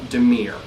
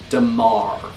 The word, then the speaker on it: Dimir: one i'll state this i've always called them dimir i just think it sounds cool but really the actual correct way to say from what i've been told is damar but for the sake